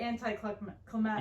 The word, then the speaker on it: anticlimactic: My one big problem with the film is that it is very anticlimactic.